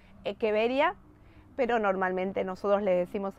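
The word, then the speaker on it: Echeveria: en realidad el latín se pronuncia latch se pronuncia es que vería pero normalmente nosotros le decimos el che verías y también está bien de decirle echevería si cruzó una echevería con otra voy a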